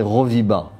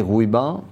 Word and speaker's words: Rouiba: Et donc les Européens prononçaient Roviba. Et après, quand on a dit Rouiba, on a toujours trouvé que c'était difficile à prononcer pour les Européens.